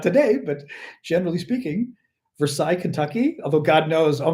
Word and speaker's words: Versailles: Anyway, Versailles. As Gunther knows, we do the Y in French at the end, especially if you're Parisian, I would guess. A little more of a pronounced.